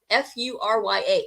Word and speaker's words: Furya: But 20 years later, more than 20 years later, Riddick Furya, F-U-R-Y-A. I don't know how to pronounce that. I think it's Furya.